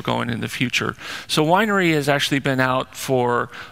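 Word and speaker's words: Weinre: just wanted to highlight one is winery although you know that's the suggested pronunciation those of us with high school mindsets call it Wiener it's always good for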